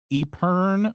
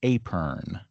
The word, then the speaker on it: epergne: I can't remember exactly whether it's Epern or Apern, but it's something along those lines.